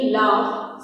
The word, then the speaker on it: laugh: Next is GH in laugh says F.